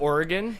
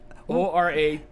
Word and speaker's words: Oregon: We say Oregon. Oregon. Oragan. Oregon. It's O-R-E. Oregon, but Yes. Oregon. But some people pronounce it Oregon. Like people who don't live near it. Most people on this coast say Oregon or Oregon. Like as a 2-syllable or 3-syllable, but not Oregon.